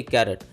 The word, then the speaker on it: Carat: ए आर ए टी कॅरट यांच्यामध्ये नेमका काय फरक आहे ते जाणून घेणार आहोत के ए आर ए टी आणि सी ए आर ए टी या दोन्ही स्पेलिंगचे उच्चार कॅरट असा होतो म्हणजे दोन्ही शब्दांचे उच्चार